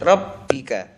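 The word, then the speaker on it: رَبِّكَ: bihamdi biham bihamdi bihamdi rbika rbika Ini ada tasdid rabbika wastagfir wastagfir wastagfir sama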